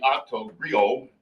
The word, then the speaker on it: Octo Griot: I'm known as the Octo Griot, and the T is silent in that word.